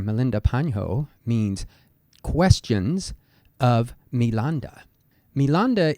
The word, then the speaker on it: Milinda: panho means questions of milanda milanda is the Pali pronunciation of the Greek name menander and this was a